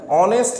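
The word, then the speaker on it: honest: কি হি ইজ অন অনেস্ট ম্যান এই যে ওয়ার্ডটা দেখা যাচ্ছে অনেস্ট ম্যান এই ওয়ার্ডটা এইচ দিয়ে শুরু হয়েছে কিন্তু এইচ এর উচ্চারণ আমরা করছি না এইচ এর উচ্চারণ সাইলেন্ট রয়েছে আমরা কখনো বলি না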